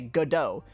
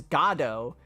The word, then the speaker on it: Godot: I'm gonna say GIF, and I'm gonna say Godot, because Godot sounds like Goddard. And Goddard is a robot dog from Jimmy Neutron.